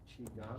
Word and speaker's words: Qigong: Depends on if you ask like a Chinese person, they have Yeah. a better pronunciation, but sometimes people write it like C-H-I-K-U-N-G. Okay. But like, there's like different ways of converting the Chinese writing sounds to English. Yep. The common way is Q-I-G-O-N-G.